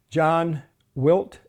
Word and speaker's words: John Wilt: what I just uh say your name and spell it okay John wilt j h n w i l t okay